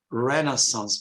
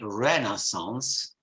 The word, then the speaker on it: Renaissance: coming generally from the Renaissance period mind you the Americans say Renaissance but in British English it's Renaissance again a difference any